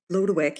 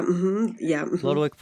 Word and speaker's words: Lodowick: And so from what I gleaned, so Post, and how do you pronounce his? From the spelling, it looks like Lodowick. Lodowick, yeah, Lodowick Post is engaging in a nice fox hunt,